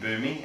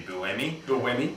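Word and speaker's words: Buemi: I remember last year we were saying boomy and it's actually Bui Bui so um let us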